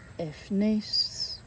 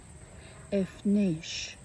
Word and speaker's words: Efnish: Efnis, I got wrong. Should have been Efnish. Efnish, dreamer of the Iceni.